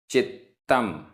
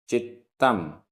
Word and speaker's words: चित्तम: जेण जेण, चित्तम चित्तम, आधा ता पूरा ता, चित्तम।